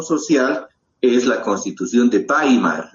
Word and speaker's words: Weimar: es la constitución de baimar se escribe weimar se lee bimar es en alemán no la Entonces qué